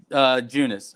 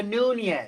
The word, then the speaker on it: Nunes: Junis, or no, I just saw UNES. Junis. It's not Junis. She's from Brazil. Eunice. It's not Eunice. Featherweight. How do you say the last name? That's the last name. She's going against Megan Anderson Megan Anderson. I'm not even looking at. No, it's Amanda Nunes.